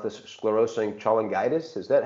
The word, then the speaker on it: sclerosing cholangitis: with PSC, primary, I'll try to pronounce this, sclerosing cholangitis. Is that how you do it? Yes, that's correct. It's called primary sclerosing cholangitis.